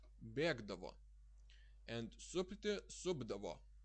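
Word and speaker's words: supdavo: And supti, subdavo. It's pronounced like b, subdavo, because it would be hard to pronounce subdavo.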